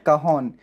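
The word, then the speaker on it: cajón: हाँ, इसको हम बोलते हैं काहन। इसकी स्पेलिंग CAJON है, लेकिन इसका प्रोनाउंसिएशन है काहन।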